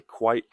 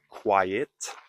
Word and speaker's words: quite: If something is a little, notice little, little, interesting, we can say quite, not quiet, but quite interesting.